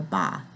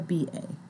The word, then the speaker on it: ba: the ka and the ba, which is spelled just like it sounds, the K-A and the B-A, the ka and the ba.